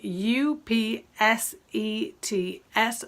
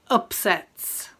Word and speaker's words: upsets: yes okay the spelling u p s e t s this is a plural noun and it's pronounced upsets upsets as opposed to upset yes yes okay it